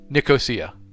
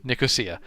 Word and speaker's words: Nicosia: Andreas, you live in, I always say it wrong. Nicosia. Yes, Nicosia. My brain always wants to say Nicosia, and my uncles get mad. They're like, it's Nicosia. Say it right.